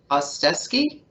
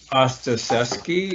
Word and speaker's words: Ostaseski: you also mentioned a specific book by frank ostesky yep frank ostrosky is the called the five invitations great frank ostaseski it's kind of a difficult name to spell